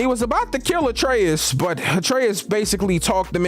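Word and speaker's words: Atreus: I told you that atraeus rhymes with betrus this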